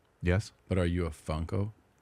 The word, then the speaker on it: Funko: That say It rhymes with uncle. Funko.